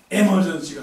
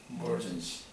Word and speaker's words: emergency: 에머전시가 아니고 emergency. 이자 발음 세게 하는 거 아니에요. 나도 누구한테 영어를 배웠거든요. emergency.